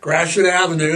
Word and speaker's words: Gratiot: Don't know how to say Gratiot. They'll read it and call it, yeah, Gratiot Avenue. That's how you say it.